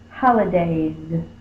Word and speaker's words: holidays: It's a vowel sound. A, it's voiced, so we say the voiced version, which is Z. Holidays.